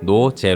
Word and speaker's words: 노제: 라는 활동 명의 탄생합니다 영혼으로 쓰면 no 제트 인데 일부 외고 팬들은 노지 라고 발음 하게 됩니다 결국 노화 제 사이에 세미콜론 을 추가해 노제 로 표기 하면서 바르면서 를 맡았다고